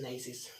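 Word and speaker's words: gneiss: अपना character change करके वो ग्नेसिस बन जाता है, या वैसे प्रोनाउंसिएशन नेसिस बोलते हैं, नाइसिस।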